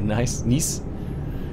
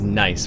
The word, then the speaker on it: Nice: Alright, heading to Marseille, Nice. It's funny, in English you just say it as nice, but in French it's Nice.